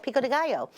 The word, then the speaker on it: Pico de Gallo: And yes, that's how you say it, Pico de Gallo.